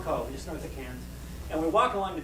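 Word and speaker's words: Cairns: about northern Australia so we flew up to Cannes which is how they pronounce appearance it's not we would call but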